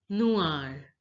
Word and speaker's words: noir: Black is pronounced as noir. Noir. Notice the OI sound. OI is pronounced as oua. Oua. Oua. Noir. Now listen to the pronunciation of the native French speaker. Noir. Again. Noir. Again. Noir.